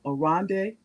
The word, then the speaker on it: Arande: Okay, this bio is I said the name wrong. What is the name? Arande. That's correct. Arandem.